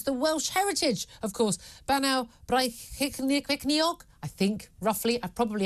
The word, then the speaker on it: Bannau Brycheiniog: Would you mind very kindly telling us how it should be pronounced in Welsh? Well, the new version is now Bannau Brycheiniog, which means the peaks of Brechan's kingdom.